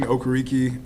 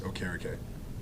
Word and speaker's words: Okereke: Yeah, older pronunciation, Okereke. I guess the correct, up-to-date pronunciation that I want to accept now is Okereke.